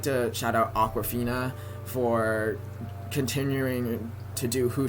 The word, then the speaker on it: Awkwafina: Awkwafina is spelled Akwafina. It sounds like the Aquafina water, but she spells it differently.